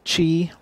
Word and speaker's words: Qi: wire inductive chargers and what is a the Chi inductive charging well that is the Qi pronounced Qi standard for inductive charging and it